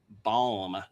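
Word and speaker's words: balm: And again, because I was called out for poor pronunciation earlier, uh that is the bomb, not the bomb. B A LM.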